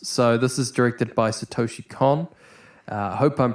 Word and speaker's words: Satoshi Kon: I'm pretty sure it's Satoshi Kon. But I've also heard Satoshi Kon and a bunch of other different ways of pronouncing it. But I'm going to call him Satoshi Kon because that's the way I think it's pronounced.